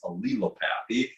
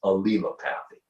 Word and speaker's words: allelopathy: It's that word that looks like allelopathy, but it's not. It has an extra couple L's in there. It's allelopathy, is how you pronounce it, is the correct way to pronounce it. By the way, if you've seen that word, the correct pronunciation is allelopathy.